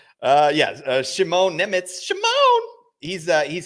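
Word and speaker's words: Šimon: Shimone Nemitz. That's That's the official Shimone.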